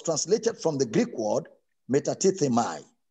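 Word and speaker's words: μετατίθημι: word removed was translated from the greek word metatatemai meta tita mai is spelled as m e t a t i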